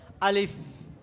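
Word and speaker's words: ألف: দেওয়াটাও কি ভুল উচ্চারণ শুদ্ধ উচ্চারণ হলে আলিফ কি উপরের দাঁত নিচের ঠোঁটের সাথে লাগবে কিভাবে আমার দিকে সবাই আমার মুখের দিকে সবাই তাকাও আলিফ আলিফ আলিফ আলিফ এটা হলো কি আলিফের শুদ্ধ উচ্চারণ আমার উপরের দাঁত নিচে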